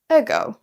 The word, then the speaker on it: ago: On prononce quasiment la première syllabe quasiment comme un e. Ago.